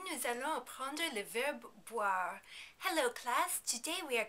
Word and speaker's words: boire: That O-I-R combination is often hard to figure out for English speakers, but it's really not too complicated. Just imagine a word starting with W-H-A-R, and then you put the first consonant, B, in front of it.